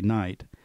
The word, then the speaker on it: knight: the spelling and so a word like Knight k-n-i-g-h-t used to be sounded out something like that in London then as time went along they used the Midlands pronunciation which is what we use today night but they didn't change